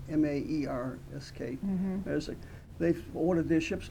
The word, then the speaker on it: Maersk: Yep, that's their major, I never can pronounce their shipping line, Maersk, M-A-E-R-S-K, Maersk.